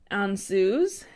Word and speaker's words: Ansuz: I have for you guys today is called on zoos and it is spelled aan suz and this is considered the